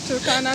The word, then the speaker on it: Turkana: That's how it's pronounced. Turkana.